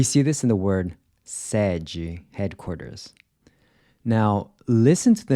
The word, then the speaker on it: sede: Then the open E is pronounced similar to the in air. We see this in the word sede, headquarters.